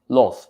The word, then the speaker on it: loath: Okay, loathe, the short pronunciation. Why? Because it is an adjective.